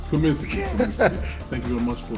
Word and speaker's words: Cumiskey: How do I pronounce it, sir? Cumiskey. Cumiskey.